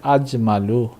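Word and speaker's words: أجمل: জামিলুন শব্দটিকে আজমালু আফদলু এটার ওজন আফদলু আফদলু তো এই উচ্চারণেই এই শব্দটি উচ্চারণ হবে আজমালু যার অর্থ হবে অধিকতর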